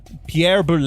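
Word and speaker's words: Pierre Boulle: Pierre Boule is how you say his name.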